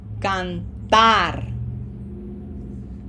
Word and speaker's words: cantar: Okay, so now we are going to put pronunciation emphasis in that syllable number 1, or the last syllable of the word, okay? So, hear it. Cantar.